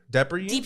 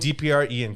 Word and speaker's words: DPR Ian: how you say or how do you say depper depper Ian DPR oh it's DPR okay D Ian DPR Ian can you talk to